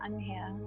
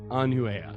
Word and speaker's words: Anuhea: I'm your host, Bootsy Greenwood, and today I am joined with Okay, it's Anuhea. Anuhea. Okay. Yes. I'm the worst at pronouncing stuff.